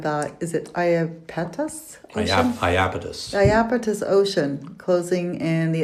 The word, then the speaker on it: Iapetus: Iapetus.